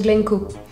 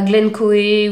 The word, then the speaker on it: Glencoe: mon nom c'est of glenco ça se prononce glenco pas Glencoe ou des choses comme ça ce son glenco